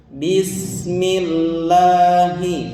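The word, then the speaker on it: بسم الله: Pengucapannya jangan tertukar dengan H yang dari tengah ya, H kecil. Jadi harus jelas. Bismillahi, coba. Bismillahi. Nah, gitu ya. Pengucapannya normal, natural ya, apa? Normal dan natural, tidak ngebas, tidak apa? Tidak ngebas, tidak bismillahi, tidak gitu ya.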